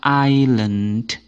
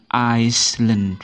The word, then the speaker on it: island: psychology pada kata ini eh yang disilentkan ataupun huruf yang tidak dibaca adalah huruf s jadi jauh sekali ya iya jadinya membacanya adalah Island island bukan bukan jadi s-nya tidak dibaca atau s-nya diilentkan didiamkan sekali lagi ini membacanya Island bukan Iceland bukan memang kelihatannya jauh tapi